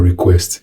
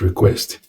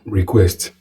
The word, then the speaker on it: request: The pronunciation or specifically speaking, this stress for request is the same when it's a verb as when it's a noun. In other words, the verb is request. The noun is also request, not request.